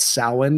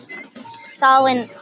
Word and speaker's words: Samhain: And then Rhonda gives us based on our phobia, she gives us a really good quick description of what Samhain is all about.